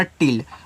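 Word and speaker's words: till: और double L से केवल आपको एक ही बार ल बनाना है। हमने सिखाया है कि जब कोई बार डबल बार आपका आया करे तो उसको एक बार आप उच्चारण किया करें। यह देखो हो गया टिल।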